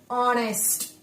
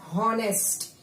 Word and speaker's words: honest: Then third one, honest. Remember children, what I told you, we have to focus on sound. We don't read it as honest. We read it as honest. Why? Because H is silent.